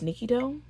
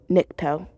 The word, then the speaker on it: Nikto: Flip Niki n I think his name is Nikito. Nikto. Future fame here. It's pronounced Nikto.